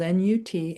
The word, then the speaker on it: Nut: On the ceiling of this tomb is the deity Nut, spelled N-U-T and pronounced Nut.